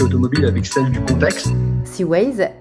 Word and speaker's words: C-Ways: Seaways, ça s'écrit C-W-A-Y-S.